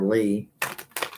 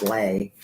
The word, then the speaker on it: Lee: My son's girlfriend, her middle name was, well, I called her Lee, but she's like, no, it's Lay. And she used to get mad at me. She's like, why won't people call me? And I said, well, it's spelt like Lee.